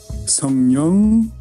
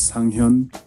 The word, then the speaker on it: Sang-hyun: Sang-hyun or Sung-hyun. It's very, very similar, but in Korean, there's a very, very distinct, pronunciation there. So my name is Sang-hyun.